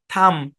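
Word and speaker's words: thumb: তারপর আরেকটা উদাহরণ দেখেন, যেমন টি এইচ ইউ এম বি, উচ্চারণ কি? শব্দের শেষে এম বি আছে, তাহলে কি বি উচ্চারণ হবে? হবে না। থাম।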